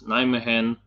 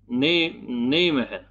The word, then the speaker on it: Nijmegen: in the battle around Nijmegen and Eindhoven were, because this is the proper way of pronouncing these words in Netherlands, Eindhoven and Arnhem and Nijmegen. Nijmegen.